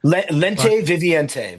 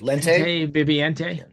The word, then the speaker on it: Lente Viviente: So, assuming we're looking at the new record um because I can't pronounce that, so I'm not going to try. Lente Viviente. Very easy. Lente Viviente.